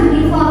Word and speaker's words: uniform: kalau misal seragam seragam kan uniform tulisannya u bacanya kan y ya Y di konsonan